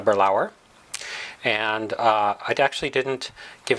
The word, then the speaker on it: Balaur: I tried a Balaur I pronounced it incorrectly it's called a burl hour and I'd actually didn't